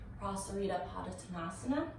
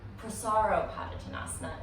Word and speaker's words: Prasarita Padottanasana: We're coming into Prasarita Padottanasana, or variation of, or Prasaro Padottanasana, as some people pronounce.